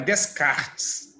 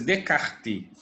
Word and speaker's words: Descartes: Então, por isso, Descartes, não é Descartes, a pronúncia é Descartes, por isso Descartes apresenta essa e outras teses.